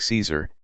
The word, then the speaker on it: Caesar: them now you take Caesar it's Latin in Latin it's pronounced like Kaiser with a hard C but we anglicize it